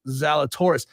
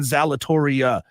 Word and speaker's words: Zalatoris: on Wesley says, no, it's not, and it's pronounced Zalatoris. Wesley, the texter, texted it in wrong. He texted in Zalatoria.